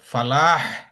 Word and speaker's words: فلاح: ওটা উচ্চারণটা ভাবে হা হিসেবে আসে না, সলাহ, হা একটু চলে আসতে পারে, বাট ওটা ওরকম স্ট্রং হবে না, বাট এখানে আচ্ছা একটা স্ট্রং হবে ফালাহ।